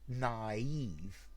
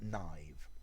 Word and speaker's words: naïve: with an f but these two dots they tell you that it's naive it's not a diphthong you split the two the two syllables um okay so naive